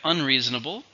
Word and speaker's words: unreasonable: Next we have unreasonable, which is the opposite. Not fair, not acceptable. It's an adjective. How many syllables in unreasonable? Unreasonable. 5, stresses on the second.